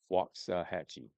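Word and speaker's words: Waxahatchee: I tell my friends who butcher it, walk like a walk. Wo ks. Walkahhatche.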